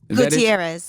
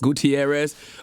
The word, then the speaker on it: Gutierrez: Am I pronouncing his last name right? Joe Gutierrez? Gutierrez. Gutierrez.